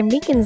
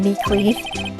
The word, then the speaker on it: Meekins: it actually officer meekins at the detention center told us that poor little dogi poor guy i keep getting his name wrong and calling him meekly he said that